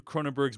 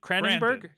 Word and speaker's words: Cronenberg: will be about Brandon cronenberg's movie possessor uh patrons will get that episode first so check cron cronberg I think is they pronunce cran cranberg cranberg right um next week on